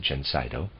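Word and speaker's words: Gencydo: manufacture under the name gensaido and i'll spell that it's g e n c y d o i'm going to pronounce it gensito is effective in the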